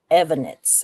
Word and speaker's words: Evonitz: So Richard Evonitz, his name was actually Richard Marc with a C, Evonitz. Evonitz. So, is that how they pronounce it? Evonitz? Yeah.